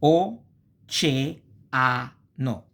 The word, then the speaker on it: oceano: Two vowels close to another in like consequent syllable constitute a hiato, like o, ce, a, no.